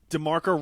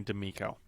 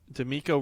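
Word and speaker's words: DeMeco: DeMarco Ryans dude. D'Amico? Yeah, I think that's how you say it, yeah. Did I say DeMarco? Yeah. Yeah, it is definitely D'Amico. Okay, great. D'Amico Ryans.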